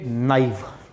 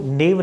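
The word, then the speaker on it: naive: Next है बच्चे नाइव। इसको नेव नहीं पढ़ते, अब ये चीज़ याद रखना, इसको पढ़ते हैं बच्चे, क्या पढ़ते हैं, नाइव पढ़ते हैं।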